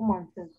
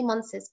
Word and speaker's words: months: has been uh on the market for two months no no no no honey no look we can never say monsters in english we can never say monsters like this one is pronounced months month excellent